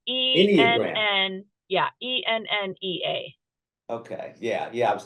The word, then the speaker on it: Enneagram: I mispronounced it. Well, it's Enneagram. Enneagram.